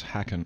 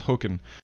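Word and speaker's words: Håkon: younger his name was hacking token token it's pronounced hookin but it's spelled H a with a little double dot and Kon and his brother was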